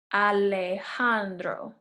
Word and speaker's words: Alejandro: And this name is pronounced Alejandro. Alejandro.